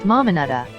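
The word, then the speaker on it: Mamanuca: and discovering secluded beaches the mamanica islands pronounced mamanada are located just offshore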